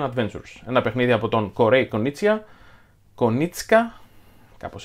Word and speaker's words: Konieczka: wars the mandalorian adventures a game by corey konieczka that's how it's pronounced and josh beppler a game by unexpected